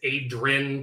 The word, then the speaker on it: Adrin: It is Adrin, kind of pronounced like mountain.